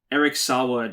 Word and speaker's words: Saward: Yeah, I think Eric Saward, or Saward, or however you pronounce it. Sayward, I think is how you pronounce it. Sayward.